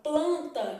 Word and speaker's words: planta: eu vou pra palavra planta eu já tenho um cenário diferente porque esse n que tá aparecendo em planta ele não é pronunciado ele apenas indica que a vogal é nasal então eu tenho isso